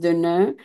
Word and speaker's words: Deneux: But in French, it's pronounced Deveneux.